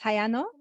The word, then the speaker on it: Hayano: We have, is it Hayano? We see your camera on. I wonder if that means that you have a comment or anything that you would like to share. Sorry if I've pronounced your name wrong. That's right. Yes, my name is Hayano.